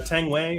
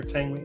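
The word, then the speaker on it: Tang Wei: Uh Tang Way or Tangi.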